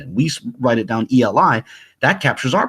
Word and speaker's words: Eli: Eli, Eli, or in the proponents of Lashawan Qadash would say, no, it's pronounced Aliyah, Aliyah. But here's the thing. Suppose we were writing down how we think they're pronounced in the Latin script, right? In the Roman script. So they would write A-L-A-Y-A, right? For Aliyah, and I would write E-L-I. We would write E-L-I for Eli, right?